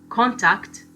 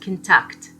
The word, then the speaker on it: contact: Also, contact, this is a noun, and contact, a verb.